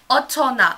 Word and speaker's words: 어쩌나: Oh my, otone? That is not what that says. That is the first time I think I've messed up reading Korean, and I knew it and stuff, and I knew I said it wrong. Otona and stuff is what it is and stuff.